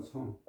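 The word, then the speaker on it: 省: 나는 하루에 세 번 성. 나의 몸을, 성이 이게 살핀다는 뜻이거든요. 살핀다는 뜻일 때는 성으로 발음해요. 뺀다 할 적에는 생이라고 발음하지만 생략이라고 쓰잖아요.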